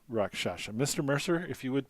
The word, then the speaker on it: rakshasa: i spell rakshasa more importantly how do you pronounce rakshasa mr mercer if you would please rakshasa oh